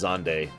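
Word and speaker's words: Xande: and restored time however xand seems intent on stopping time again come we must stop xand yes I know it's supposed to be pronounced zande no I don't care come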